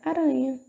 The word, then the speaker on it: aranha: E outra palavra, aranha. Um sonzinho mais fraco, certo?